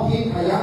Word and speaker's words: ทิพย์: ทิศ อัน เป็น มงคล ถ้า บาลี อ่าน ว่า ทิพยะ ถ้า เป็น ไทย ใส่ ไม้ ทางฆาตัน เข้า ไป ก็ เป็น ทิพย์ นะ ครับ ความ หมาย